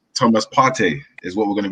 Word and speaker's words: Partey: I mention it all the time that, you know, if you're a true Ghanaian, the way to pronounce it is Partey. It's not Partey.